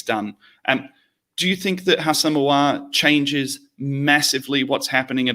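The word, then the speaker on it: Houssem Aouar: Hassam Ouar. Sound like Al Pacino when you're saying it, and you'll work out what you're doing.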